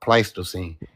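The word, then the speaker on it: Pleistocene: Sage, for the record, the word is pronounced pletosine.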